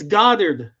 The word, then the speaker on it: Goddard: It's Goddard. Goddard.